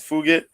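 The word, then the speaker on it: Fugitt: fights um Adam fugit the way it's spelled is like it sounds like effort but yeah it's fugit um who gets nine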